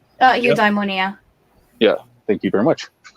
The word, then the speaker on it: eudaimonia: more is that people recognize the state of in ammonia if I'm pronouncing that right eudaimonia yeah thank you very much and in because